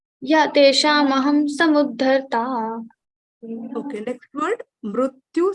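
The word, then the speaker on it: तेषामहम्: Teshamaham is pronounced? Yeah, Teshamaham Samuddharta.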